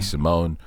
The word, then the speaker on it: Simon: That's just when I saw the Simone on its own without the Ricky part.